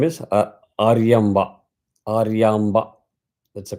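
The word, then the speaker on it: Aryamba: you talk about mother mother name is aramba aramba that's a correct pronunciation aramba so this is the incident that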